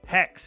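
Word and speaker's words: Hexe: Now, after AC Red, we have AC Hex, pronounced Hex. I know it's got an E on the end of it, but that's how you pronounce it, which doesn't have a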